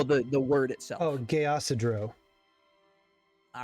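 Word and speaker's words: Geasidreaux: more time for me so I get the pronunciation uh g-e-a -s-i no the the word itself oh gay acidro all right sounds delicious it actually sounds like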